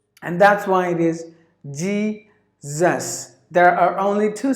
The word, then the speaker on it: Jesus: sound in English language if you find the s in between the vowels the s must be pronounced like the Z and that's why it is Jesus there are only two